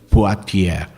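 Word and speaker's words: Poitiers: Numa cidade chamada potier se escreve Poitier se pronuncia Poitier era chamado Hilário de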